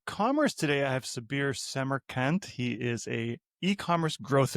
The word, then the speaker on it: Semerkant: Today I have Sabir Seammer Kant.